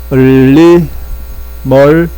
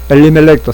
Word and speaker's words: 엘리멜렉: 엘리멀렉, 예, 엘리멜렉 이렇게 합니다. 엘리멜렉도 상관없고요.